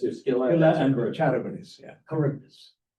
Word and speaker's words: Charybdis: Charybdis. Charybdis, you say. Yeah, Charybdis. That's the way These are Greeks the pronounce two it.